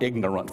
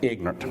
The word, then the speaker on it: ignorant: the South we that's one of those words we take a syllable out of it's not ignorant for most of us it's ignorant and there or ignorant anyway different ignorant stupid one of